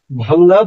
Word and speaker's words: ভাঙা: ভাঙ্গা, ভাঙ্গাটা আমরা উচ্চারণ করি না, ভাঙা উচ্চারণ করি, সেই জন্য ভাঙাই লিখবো।